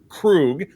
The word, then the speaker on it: Krug: But this gentleman's name is Kurt Krug, and he's very specific in the pronunciation of his last name. And he said, remember the Klingon from Star Trek 3, who was played by Christopher Lloyd, was Commander Krug.